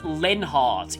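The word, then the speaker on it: Leonhardt: yeah by the way his full name is actually pronounced lenhardt if voice acting from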